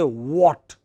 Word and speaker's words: what: is that letter h we don't pronounce it so we just say what what is it what